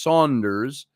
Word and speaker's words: Saunders: So you've got Sandra, which is Sandra over here in United States, but your last name is Saunders, S-A-U, pronounced Saunders, Sandra Saunders.